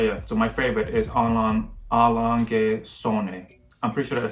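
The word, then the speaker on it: A. Lange & Söhne: But yeah, so my favorite is Allonge Sonne. I'm pretty sure that's how you pronounce it. I'll put the clip up again. A, Lange und Sohne.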